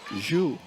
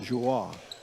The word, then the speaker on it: Jou: It's Jou, not Joie, like Ajou.